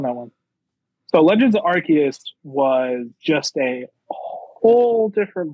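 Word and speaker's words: Arceus: my number three is Pokemon Legends of archus and that is the correct way to pronounce it so you're wrong if you say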